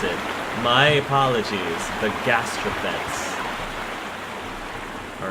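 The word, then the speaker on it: gastraphetes: a crossbow this is a siege weapon the gastrophets were used with ropes and hooks the suitcase is how you pronounce it my apologies the gastropaths all right and now let's take a look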